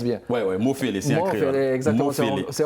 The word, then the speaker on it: Mofele: Est-ce que je prononce bien? Oui, Mofele, c'est en créole.